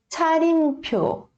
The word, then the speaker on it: 차림표: É um som de TCH, tá? É cha, cha, ok? Ele é mais aspirado, tá? Você faz assim, né? A sua palma da mão, faz assim, cha, cha.